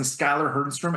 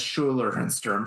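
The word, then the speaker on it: Schuyler Hernstrom: So I I've kept mispronouncing Skylar Hernstrom as Schuler Hernstrom for the longest time.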